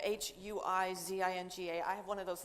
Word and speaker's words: Huizinga: We're going to talk to, as I said, my name is Huizinga, Huizinga.